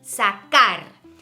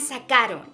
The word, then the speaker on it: sacar: That C, it's a hard C, sacar. And if you look at the rest of the conjugations, we have sacaste, sacó, sacamos, sacastes, and sacaron.